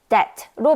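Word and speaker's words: debt: 여기서 that에서 B는 발음하지 않는 무음이기 때문에 that로 발음되는이 단어는 부채 혹은 be를 뜻하는데요.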